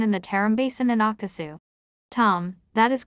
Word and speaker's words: Akesu: call the terum Basin written akasu pronounced akasu by Tom akasu is in shinjang